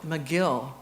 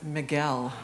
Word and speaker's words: Miguel: Number 26, continue to call him McGill for 15 years, even though his name is Miguel.